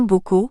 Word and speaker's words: Boko: Le second, Boko, premier au fermé, deuxième au ouvert, référait à ses activités principales au plan social et accessoires au plan financier.